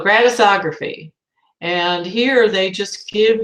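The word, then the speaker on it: Gratisography: feet Greta stog raphy it's gratis it means it's free so gratis ography and here they just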